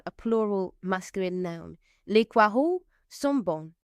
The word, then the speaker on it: poireaux: Les poireaux. So you don't pronounce the X, just like you don't pronounce the S on the end of words in French.